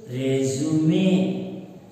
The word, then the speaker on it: resume: Resume, resume. And another word is there, verb. Part of speech is verb. Resume, resume, which means he resumed his work.